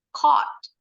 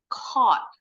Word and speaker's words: caught: Bacanya sama nih, cuma tinggal depannya aja diganti. Jadi caught. Caught.